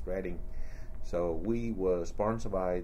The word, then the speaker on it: Reading: We were sponsored by a Catholic uh uh… church, a parish in Reading, R-E-A-D-I-N-G. They spell ‘Reading’ but they pronounce it ‘redding.’ So we were sponsored